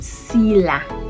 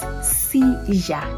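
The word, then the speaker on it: silla: All right, so instead of saying sila, which English would pronounce it like that, Spanish wouldn't pronounce it like that. It will pronounce it seizure because it's double L, and that is how they pronounce their double L.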